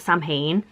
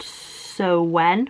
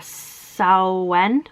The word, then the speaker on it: Samhain: i'm saying it wrong i know that it's not samhain um i said sarwin in the last video which again people were saying was wrong and apparently it's pronounced so when or sao went or something i have no idea i think it's just